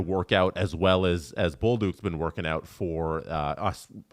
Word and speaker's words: Bolduc: Julian, I asked him to send me how you say it in the French way, the proper way. Let's see if this will come through. Bolduc.